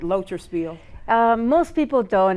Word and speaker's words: Loterszpil: thank you I get that last name right loer Spiel uh most people don't it's kind of difficult loer Spiel um is a German Jewish name and it's not easy to pronounce so most people call me and